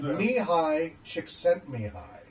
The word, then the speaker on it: Mihaly Csikszentmihalyi: Yeah, it's pronounced Mihaly Csikszentmihalyi. And it looks nothing like that.